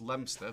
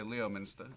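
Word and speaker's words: Leominster: Um Ash Leah um in the UK this is pronounced Lemster but you may say Leo Minster and it's in Massachusetts.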